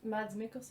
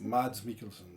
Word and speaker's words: Mads Mikkelsen: guy who played hannibal in the series come pronouncing his name is mads makers mads mikkelsen yeah he's a good one he's good he's